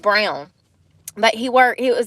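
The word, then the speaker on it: Braun: r a u n it's pronounced brown but he work he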